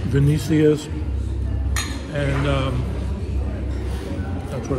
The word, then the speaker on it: Venecia's: It is pronounced Venecia'S, and that's what it's pronounced.